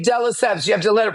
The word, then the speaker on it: de Lesseps: But if you just say de Lesseps, like eggs à la française.